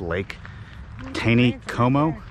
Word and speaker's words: Lake Taneycomo: And it's above, I guess it's pronounced Lake Taneycomo.